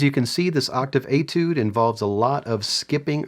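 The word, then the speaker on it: étude: page 12 we have number 27 this octave etude and that's how you pronounce that word etude and etude is simply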